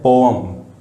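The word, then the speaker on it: poem: मेरे ख्याल से बहुत से लोग इसको पोएम बोलते होंगे, बट दैट्स नॉट पोएम, इसको बोलते हैं पोअम। अजीब लगेगा बट एग्जैक्ट प्रोनाउंसिएशन यही है।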